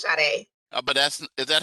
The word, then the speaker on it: Sade: Yes, it's Sade. But is that how you spell it?